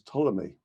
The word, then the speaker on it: Ptolemy: the Greco-Egyptian scientist Claudius Ptolemy. The P is silent, as in a swimming pool. Ptolemy referred to the largest